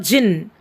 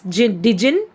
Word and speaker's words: jinn: humph even the clever jinn it should not be pronounced as djinn it should be pronounced as jin only children so even